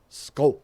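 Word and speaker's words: skål: hard with English but it's an A and an o sound at the same time uhhuh so it's like skull skull yeah that's that's how you say it um um but uh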